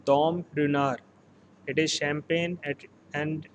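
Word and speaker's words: Dom Ruinart: again a champagne label it is pronounced as dom runner here t-word is silent it is dom dinar it is champagne and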